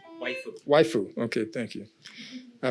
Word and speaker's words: Waifu: Did I pronounce that right? Waifu.